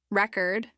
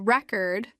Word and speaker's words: record: a word for example record as a noun has the stress on the first syllable while record as a verb stress is the second syllable we'll discuss stress in